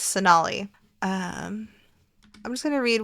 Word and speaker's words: Sonalee: Sonalee Rashatwar. Yes, I used to think it was Sonalee, but it's Sonalee.